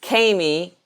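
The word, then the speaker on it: Kamy: asking my name is Kami rhymes with Amy Amy with a K and then it was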